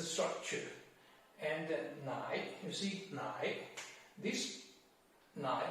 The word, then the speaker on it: 奶: And nai, you see nai, this nai, the right part of nai, this character also pronounces nai.